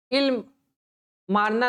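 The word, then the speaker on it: Amarna: मिस्र में अल इमाराना मिस्र में अल अपर्णना या अल इमारना नामक स्थान से मारना है ई साइलेंट होगा इल मारना नामक स्थान से कुछ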